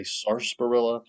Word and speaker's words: sarsaparilla: early America was uh sasparilla. Sasparilla, the oddly spelled herb. It's spelled like sars sapperilla and some people say sarpilla.